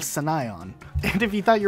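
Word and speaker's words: Sunaion: people call this level the Battle of Sunnah Yellin yeah I don't know it's battle of Senayan and if you thought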